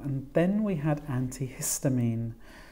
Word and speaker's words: antihistamine: and then we had antihistamine this time the stress is on the middle syllable it's five syllables so it's antihistamine we then have gastrointestinal